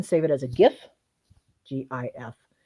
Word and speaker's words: GIF: it as a gif g i f i say gif i'm a hard g gif not a jif jeff is peanut butter